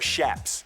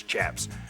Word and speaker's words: chaps: The chaps, you know, or shaps. Shaps is actually how it's properly pronounced, but everybody says chaps, you know, supposedly it's shaps.